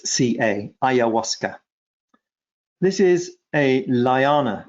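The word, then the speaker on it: ayahuasca: ever used with thymus gland and syphilinum was iasa um now some people will want me to spell that because it's a funny name so it's spelled a y a h u a s CA aasa this is a lana it's a Vine from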